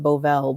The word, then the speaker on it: Bovell: I think her last name is pronounced Bovell, but she's a thought leader in tech and futurism and so on.